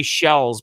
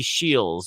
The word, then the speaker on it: Shields: I always say Shells, but it's actually Shields.